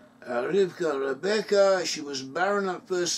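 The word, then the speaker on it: רבקה: son of abraham married rebecca in hebrew rebecca's pronounces rivka rivka rebecca she was baronna first so isaac prayed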